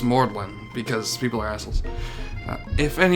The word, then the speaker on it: Magdalene: like the College of mortalen in in England it's spelled Magdalene but it's pronounced mordlin because people are [